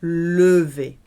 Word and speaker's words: levé: Remember, E with no accent on at the end of a syllable, levé.